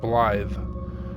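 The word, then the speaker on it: Blaidd: um blly like th Blye the reason I don't know the reason exactly but in Welsh a DD is pronounced as a th so it's blly and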